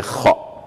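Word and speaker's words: خ: Pour le ha aussi, qui a comme équivalent H, mais kha qui n'a pas d'équivalent en français en tant que lettre de l'alphabet, mais avec la combinaison CH, on peut avoir quand même le son kha.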